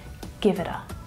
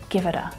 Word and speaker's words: give it a: Give it a, give it a. You might even hear that T, that flap T sounding more like a D there, because naturally in my